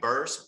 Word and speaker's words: Burse: it's spelled last name burst like purse b-u-r-s-e so you can